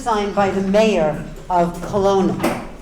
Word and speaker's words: Kelowna: It's called Kelowna. Yes. Oh, that's how you pronounce it.